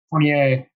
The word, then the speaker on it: Fournier: So maybe that's a little more likely, or an Evan Fournier. How do you say it? Fournier? And Fournier. There we go.